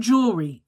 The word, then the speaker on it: jewelry: But I had to actually investigate because I'm like the word jewelry. It's jewelry, not jewelry. There is no jewelry. There is no E after the L and the R Y. There's no E in between.